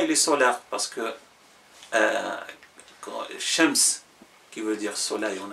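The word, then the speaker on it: الشمس: Parce que le L de Qamar se prononce, le L de Shams la lam ne se prononce pas, elle devient shams, ash-shams. On a shams indéfini, ash-shams. Le L, on le saute et on l'introduit dans la lettre qui suit.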